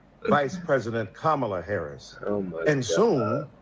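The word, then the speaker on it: Kamala: to the congresswoman who insisted upon misnaming mispronouncing kamla Harris do you call Melania melan do you call Ivanka ianka two other TRS man give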